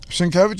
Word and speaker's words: Sienkiewicz: I kind of pronounced in my head, but I knew they were wrong. Sienkiewicz was one of them. Sienkiewicz is like Cher.